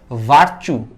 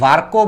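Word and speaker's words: Virchow: এটা অ্যাকচুয়ালি আমরা মেডিকেলে যখন উঠছি আমি বলি লোকটার বানান হইলে যে এরকম, এই যে এইরকম, এটা আমরা উচ্চারণ করি, আসলে অ্যাকচুয়াল উচ্চারণ হলো ভার্কো।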